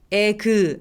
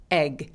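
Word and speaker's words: egg: 거는 거예요 다시 해볼까요 자 계란은요 얘는 에그 아니고 에그 에그 그래서 이게 이름절 발음인데요 느낌으로 살짝 발음해 주세요에 그 아니고 에그 에그 그래서 이렇게 쥐 발음 기호는 요런 소리가납니다 그래서 그 그 아니고 몸 싹 없애 주시고요 의솔이 없이 끝 기억만 발음한다고 생각하시면 돼요 자 두 번째는 n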